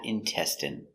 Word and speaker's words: intestine: Next we have intestine. So remember the in is pronounced in intestine.